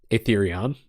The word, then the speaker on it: Aetherion: I keep saying that wrong. I think I had like a revelation that I said it right one day, and I was like, oh my god, I've been saying this wrong the whole time, and then I just